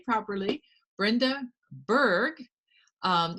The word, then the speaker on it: Bourg: her name properly brenda berg um if you look at this spelling it looks like borg but apparently a lot of people get that wrong including moi so this is brenda berg and she's a really